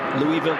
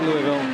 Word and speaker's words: Louisville: It can be pronounced either way. I would say Louisville, but then I went there and I was told in knowing certain terms, it's Louisville.